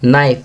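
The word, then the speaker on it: knife: यहाँ नाइफ को सर्कल करेंगे, ओड वन आउट है क्योंकि इसमें के साइलेंट है।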